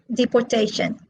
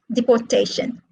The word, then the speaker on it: deportation: All right, so the first column, these are all verbs. 2-syllable verbs are stressed on the second syllable. And the second column, these words are all nouns. And they are stressed on the third syllable, as you can see.